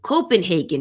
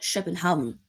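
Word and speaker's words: København: Ørjan Nussi, another Norwegian, scored the goal for Copenhagen, or technically it's called Copenhagen, the Danish pronunciation.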